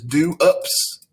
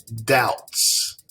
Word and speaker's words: doubts: think this word is do ups do ups no this b is silent so we say doubts doubts if you have